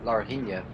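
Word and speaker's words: Laranjinha: I mean, when you go up the hill towards Larina, that's how it's pronounced, the uphill section before you go towards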